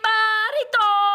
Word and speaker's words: burrito: 2 pounds bean burrito. Woo woo! All right, Emma, you want to do it? Sure. Try to do the bean burrito. Roll your R. Burrito. Doesn't help that you've got a common cold, does it?